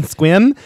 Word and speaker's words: Sequim: Casino in Sequim Washington it's spelled s-e-q-u-i-m don't struggle with Google like I did okay that's how it's spelled I'm gonna be in squim and that's at seven